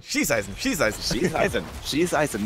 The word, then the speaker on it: Schießeisen: Greymane went for the Hunter's Blunderbuss, or as I learned in the last couple of weeks, the Schießeisen in German.